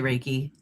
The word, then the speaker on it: Reiki: Some people say Reiki, some people say Reiki.